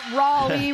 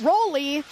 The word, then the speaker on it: Raleigh: But they're going to put out Raleigh Reed, who is playing to the crowd. Rolly. I thought I said it right. We're not in Rolla. It's Rolly.